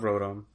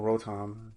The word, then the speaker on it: Rotom: And there's an electric one that has a Rotom in it, and I love Rotom. Or Rotom, depends how you hear it pronounced.